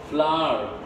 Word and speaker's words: flour: Flour as in flour, as not flour, and see, F-L-O-U-R, flour, that's atta, right? Or maida, that is also called flour, right? So flour, some people pronounce it as flour, but the correct pronunciation is flour.